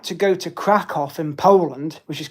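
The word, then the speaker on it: Kraków: Um, I would like to go to Crackoff in Poland, which is Crackow. It's pronounced Crackoff, actually, cuz my brother went there, and go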